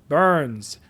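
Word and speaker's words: Byrnes: His name being Josh Burns. I believe that's how it's pronounced with B YR nees.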